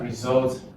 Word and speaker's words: result: It's only result that's on second level.